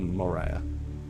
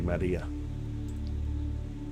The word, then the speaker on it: maria: Dark areas are called Maria. If you want to say it properly, Maria.